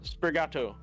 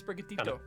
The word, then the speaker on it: Sprigatito: Sprigato. Yeah, you're really close actually. It's Sprigatito.